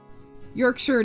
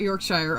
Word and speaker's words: Yorkshire: Yorkshire, not Yorkshshire.